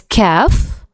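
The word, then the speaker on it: كاف: Uh we pronounce it exactly like the K in the word kayak. Okay. So it's calf.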